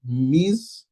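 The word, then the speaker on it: Mhiz: How do I pronounce this? M-H-I-Z. Miz, but there's no care there, so good.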